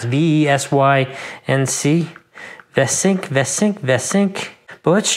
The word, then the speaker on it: VeSync: So they have their own VeSync. It's kind of hard to pronounce. V-E-S-Y-N-C.